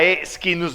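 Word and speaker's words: Schinus: reglas taxonómicas marca la esquinus molle ya está allá para pronunciar el latín la c y la H se pronuncian como una q sq Sky skins qué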